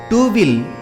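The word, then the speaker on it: two: தீயில் உள்ள இத் என்பதே டூவில் இட் ஆகிவிட்டது. உச்சரிப்பில் டூ என்று சொன்னாலும் ஸ்பெல்லிங்கில் டீக்கு அப்புறம்தான் டபிள்யூ வருகிறது. டபிள்யூவுக்கு வா சப்தமே உண்டு. இத்வியில் உள்ள வாதான் இங்கே டபிள்யூ ஆகிவிட்டது.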